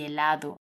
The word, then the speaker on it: helado: H, esta letra es muda, es decir, no se pronuncia, tal y como vemos en estos ejemplos. Hielo, huevo y helado.